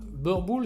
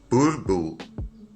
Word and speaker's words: boerboel: déjà qu'est-ce que ça veut dire alors déjà burbou c'est de l'African c'est une langue qui est